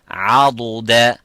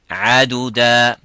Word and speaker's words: عضد: Now, most of the people would think that dad and dal here are the same by saying عدد. This is in Surah Al-Kahf. وما كنت متخذ المضلين عضدا, and not عددا.